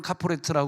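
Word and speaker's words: כפורת: 공통으로 쓰이는 걸 그러면 히브리어로는 카프레라 발음하는데 그럼 헬라어에서 모르 아까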